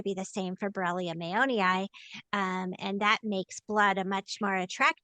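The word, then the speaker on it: mayonii: Bia mayoni. Um if you're trying to remember how to say it, think of Mayo like Mayo Clinic like we named it after the Mayo brothers.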